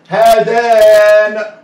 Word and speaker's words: هذان: ايوه، في المثنى بيوضع الالف في انا بتكلم عن الاثنين اهو، يوضع الالف بقى هنا بقى الكلمة فيها الف مكتوب ومقروء.